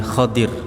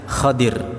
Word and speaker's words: Khadir: dan Nabi Khidir Alaihissalam secara makna hadits bahasanya sebenarnya nabi Khadir ya Sekali lagi bukan Nabi Khidir cuman ejaan kita Indonesia menjadi apa Khidir kalau maknanya sebenarnya kalau dalam bahasa Arab Rasulullah menyebutnya khodir Alaihissalam jadi Khidir atau khodir